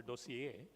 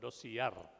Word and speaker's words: dossier: concept of a doseier it's a French word you know so it should be pronounced as a doseier but in Indian pronunciation of course it's called dossiier so dossier has to